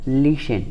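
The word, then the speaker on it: listen: ठीक है, उसी तरह लिशन आपका यहाँ पे ई एन दिख रहा होगा तो यहाँ पे भी आप लोगों को टी क्या है? साइलेंट है।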